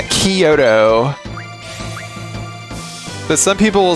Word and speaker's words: Kyoto: Like if I hear another if I if I hear another tourist pronounce it coyoto, I'm going to flip my dude. Yeah, Kyoto.